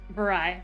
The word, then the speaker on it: Varys: Very. Very. God damn it. I have an S on it. Is there not supposed to be an S? Rhymes with Versailles.